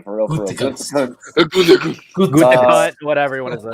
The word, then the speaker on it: Gutekunst: Aaron Rodgers recently compared GM Brian Gutekunst, okay, I think that's how you say his name for real. Gutekunst, whatever you want to say.